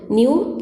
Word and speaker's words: nu: c is equal to nu lambda c is equal to new lambda new means it is nothing but a frequency pronunciation is a new c is equal to